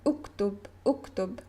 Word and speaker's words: اكتب: I would tell him, uktub. You see, this is the sound of this line, and I began my sentence with u, and u is pronounced here.